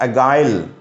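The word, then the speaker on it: agile: The antonym of अगाइल, देखिए ध्यान दीजिएगा, द एंटोनियम ऑफ अगाइल, कुछ लोग इसको गाइल भी पढ़ते हैं दोस्तों, ए साइलेंट बताते हैं।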